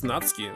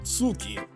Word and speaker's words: Natsuki: for example it's very typical that you don't pronounce ooh well in europe of course yes but natsuki it's natsuki says no not sookie it's like the word desu that's actually you